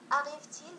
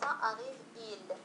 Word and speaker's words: arrive-t-il: Arrive-t-il demain؟ هل سيصلنا غدا؟ Arrive-t-il demain؟ إذا لاحظوا قلنا arrive-t-il t-il وليس arrive-il.